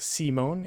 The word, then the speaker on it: Simon: Yep, pronounced Simone, of course, is a mangaka.